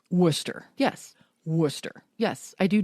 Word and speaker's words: Worcestershire: in my brain is worse to share sauce correct did you know we're all pronouncing Worcestershire sauce incorrectly it's Worcester sauce Worcester yes Worcester yes I